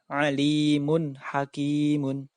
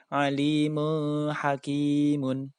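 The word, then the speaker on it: عَلِيمٌ حَكِيمٌ: Maka tanwin bertemu ha wajib dibaca jelas. Alimun hakimun. Tidak boleh dibaca alimun hakimun.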